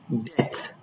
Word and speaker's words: debt: The B in all of these words are not pronounced.